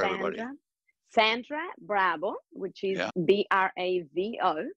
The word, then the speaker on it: Bravo: V okay now go slow Now spell it out for everybody Sandra bra which is b r a v o like clapping Bravo that's my last name Sandra bravo.